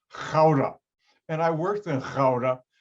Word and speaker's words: Gouda: for their cheese but the dutch pronounce a g as a hard ch not like americans now because i know hebrew and i can pronounce a hard ch g-o-u-d-a in the netherlands is